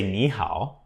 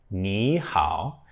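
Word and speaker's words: 你好: which is hello again KN is normally a third tone character and so is how so that's two threes So when you say KN how KN how the KNE is changed to a second tone and that's why okay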